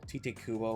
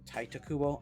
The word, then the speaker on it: Tite Kubo: The person that I looked up to, Tite Kubo or Taita Kubo. I always pronounce it Tite.